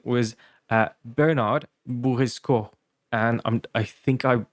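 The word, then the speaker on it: Boursicot: So since the T is silent, it sounds something like um that's a mouthful to pronounce.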